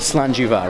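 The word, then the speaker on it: Slàinte mhath: Richard right now is just explaining to us how do you say cheers in Scottish. In Scottish, okay. So the phrase is, oh, sorry about that. No, go for it. Go for it. Slanjiva, right? Slanjiva, that's right.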